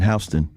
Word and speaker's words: Houston: That's like somebody calling coming to Texas calling Houston Hston. New York. They call it Hston Street. It's they call that street Hston Street.